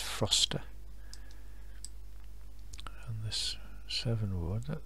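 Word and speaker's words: Frocester: i've not heard of that place before that pronounced froster and this seven ward that looks okay okay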